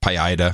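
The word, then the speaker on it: Paideia: you may recall that the PI ADA is PAE I da PI Ida PI Ida I know how to pronounce it they have a mission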